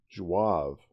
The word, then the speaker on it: zouaves: rats of the Algerian zouaves are what? Hold on. I have no idea how to say this word. Zouaves. Gotta look that up. Zouaves. Jouave. Ah, Jouave.